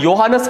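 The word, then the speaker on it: Johannes: ते कोणतं टायकोब्राहे आणि योहानस केप्लर ठीक आहे स्पेलिंग जरी जोहानस असलं तरी पण त्याचं प्रोनाउन्सिएशन योहानस केप्लर आहे ठीक आहे तर योहानस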